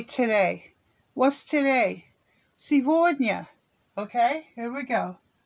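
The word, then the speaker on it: сегодня: say today what's today silvogna okay here we go s e g remember g v that's sometimes pronounced v c d and y sevornia that's today that's today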